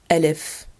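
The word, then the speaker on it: ألف: Letter Alif, Alif. This is the first letter of the Arabic alphabet. It is a long A sound because it looks like a long arm.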